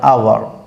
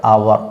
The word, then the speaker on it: hour: There I rubbed him with sand for an hour. For an hour, not hour, but hour. H is silent.